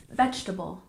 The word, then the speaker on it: vegetable: 19 we have vegetable we stress the first syllable and the second e is often dropped for example vegetable vegetable very good and